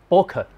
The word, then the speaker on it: Boke: Actually, it should be pronounced Boke.